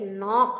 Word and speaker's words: knock: Knife, not and knee, there the letter K is silent, right? Letter K is silent, and the sound of the second letter, that is N, is appropriate, is coming, it's coming more, like knock, no, knife, na, not, knee, right?